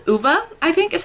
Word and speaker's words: Ove: And then I did start reading A Man Called Uva, I think is how you say it, by Frederick Bachman. I did put on the audiobook while I was listening last night, and they pronounce it Uva, so that's what I'm gonna say.